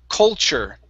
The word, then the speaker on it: culture: Okay, make sure to pronounce that L. Here you're saying culture. Okay, when you pronounce the L, okay? When you're pronouncing the L, your tongue needs to come up and touch the top of your mouth.